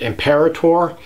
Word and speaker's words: imperator: in boa imperator well this is how i pronounce it imperator i don't necessarily think that this is the only way to pronounce it i've heard other people say emperor or amperador or you know things like that and this is really a potato versus potato type of argument say